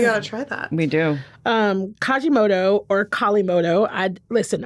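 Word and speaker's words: Kalimotxo: Kajimoto or Kalimoto. Listen, a very attractive person that works at the restaurant told me it was Kajimoto, but it's spelled like Kalimoto.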